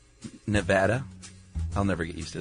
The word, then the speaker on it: Nevada: And we want to support Bill Wagner who sent us a bumper sticker on how to pronounce Nevada. Nevada.